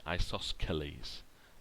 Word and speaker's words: isosceles: quite tricky to spell I always remember it as saying isosceles the silence see if I pronounce it will remind me that I have to put it in the middle there isosceles I'm just going